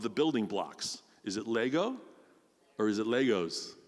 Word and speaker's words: Lego: So I think on the recorded version I say Legos, but then the internet attacked me. Swedes from the internet being like, this is not how it's pronounced. The plural is Lego.